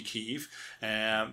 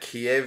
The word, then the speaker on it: Kyiv: Now, the reason for that, and this will hopefully be helpful to listeners, is that Kiev is the Russian pronunciation. Oh, yeah. And Kyiv is the Ukrainian pronunciation.